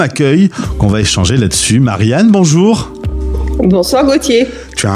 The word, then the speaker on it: Marianne: Italiens disent Marianne alors je leur prononce toujours Marianne puisque le E se prononce E parce qu'autrement c'est la catastrophe mais en fait Mariana